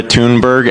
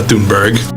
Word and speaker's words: Thunberg: that don't involve Greta Tunberg. Is there research that shows has she always said her name that way? Because I feel like somebody else just said Tunberg. Is that how you say it now?